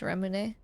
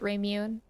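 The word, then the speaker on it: Ramune: I know it's pronounced Remune. I just like how people pronounce it Raymune.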